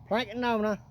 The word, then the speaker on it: Plankowner: Plankowner, that's how you say it.